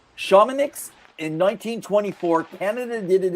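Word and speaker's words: Chamonix: Now, four years later, at the first true winter games, uh, I believe the pronunciation was shamanics in 1924, Canada did it again.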